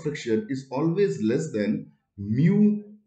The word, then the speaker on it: mu: like this this way and this way and pronounced as mu the greek alphabet right and this is the